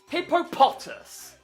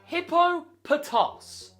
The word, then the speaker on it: Hippopotas: And yet, some stupid people call it Hippopotas. Why? It is not Hippopotas. Nowhere has it ever been called Hippopotas in official media. It is pronounced Hippopotos.